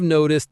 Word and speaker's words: noticed: The stress is on no in noticed. Notice how noticed that almost blends, and the T in noticed can sound a bit like a D in American English.